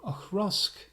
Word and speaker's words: Auchroisk: we have this time is a bottle from akrusk that's a bit of a difficult one to pronounce it is a space-site Distillery owned by